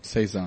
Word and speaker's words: Saison: Saison.